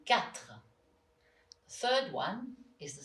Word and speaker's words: quatre: The second sound is a bit tricky for English people to pronounce. It's the sound r, like in quatre.